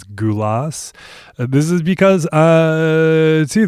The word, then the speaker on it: Gulas: is about Nick Gulas which may be pronounced as Nick Gulas based on every recording I've heard though throughout the episode I refer to him as GU loss this is because uh